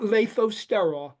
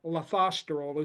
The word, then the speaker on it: lathosterol: h o s t r o l not lathosterol lathosterol is the correct pronunciation and the other uh pathway it goes